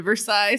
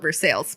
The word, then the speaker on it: Versailles: it drives me nuts because i've been to versailles so like coming back to ohio and being like no that's no actually no you need to call it for sales because you're not versaille no